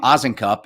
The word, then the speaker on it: Osincup: my last name ozenkop it's pronounced like the wizard of oz is in a cup oz and cup um and uh my